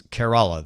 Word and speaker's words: Kerala: helped me properly pronounce Kerala. That is the Indian state we were talking about yesterday. He says it's Kerala, the same as care as in caring for someone.